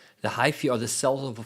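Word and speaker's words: hyphae: was corrected it's called supposed you're supposed to pronounce it Hy the hyy are the cells of a fungus yeah and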